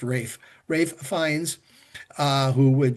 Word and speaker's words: Ralph: It's it looks like Ralph, but it's pronounced Rafe Rafe Fines.